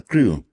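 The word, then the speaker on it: Crewe: wolton é pasa a Crew cre que se escribe r e w e cre pero ya entonces él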